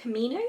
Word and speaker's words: Camino: Call of the Camino, that's how you pronounce it.